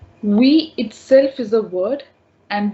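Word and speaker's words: oui: is no no but we will be pronouncing exactly like we pronounce in english no remains no but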